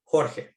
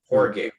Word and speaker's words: Jorge: know growing up my my first name is actually pronounced jorge right but all my teachers none of my teachers could ever get it correct they would butcher it poor gay porridge or jorge it so you know